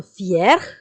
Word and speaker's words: fier: Être fier, être fier. The pronunciation is same for both masculine and feminine.